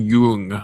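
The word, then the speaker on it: Jung: I'm a fan of Young and I will not pronounce him Yung. Okay. His name is not Young.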